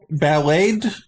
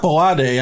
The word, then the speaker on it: Ballade: Or Ballade, whatever. Wait. You know music stuff. What is it? How do you pronounce his name? Is it Ballad? It's not Ballade. I used to say that. That's definitely wrong.